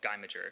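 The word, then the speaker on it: Guymager: called uh guy major it's actually really supposed to pronounce because the guy who made it his name is gee he's french but everyone in the u.s has decided it's called gaimager so i feel really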